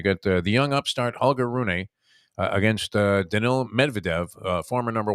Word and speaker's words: Rune: Guy named Holger, I believe you pronounce his last name Rune, but it's Rune.